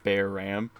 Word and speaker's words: Bearam: you say your name is it Barum uh mix of bear and RAM so it's like bear Ram oh okay nice uh